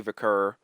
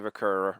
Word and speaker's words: Vaquer: is to have Stephanie Vaquer. I'm trying to say it right. I kind of say it like Naomi.